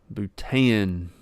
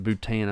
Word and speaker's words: Bhutan: I feel like I would butcher the name of that. Bhutan would be the best I could come up with. I don't even know where if I'm pronouncing it right, Bhutan.